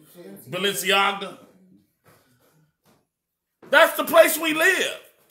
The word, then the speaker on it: Balenciaga: little teddy bears in the bondage of clothing Valencia did I say it right ballistics AGA however said Balenciaga that's the place we live the place you